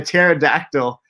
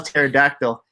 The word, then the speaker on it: pterodactyl: got the answer right because the P is silent if you know how to spell pterodactyl it's actually P T